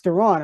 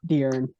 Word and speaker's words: Deron: It is Deron. Yeah, the way it's spelled, it's not Darren.